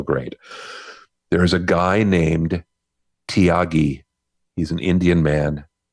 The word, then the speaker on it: Thiagi: There's a guy named Tyagi. He's an Indian man. His name is spelled Thiagi. Tyagi.